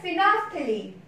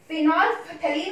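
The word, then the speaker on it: phenolphthalein: Next आता है फिनोफ्थलीन, वैसे तो फिनोल्फथलीन होता है बट ये साइलेंट होता है, इसे हम बोलते हैं फिनोफ्थलीन, फिनोफ्थलीन इंडिकेटर।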